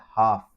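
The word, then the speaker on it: half: हाफ में L silent है। एल की आवाज़ नहीं आ रही है। यानी हालफ़ कालम वाला नहीं कहना।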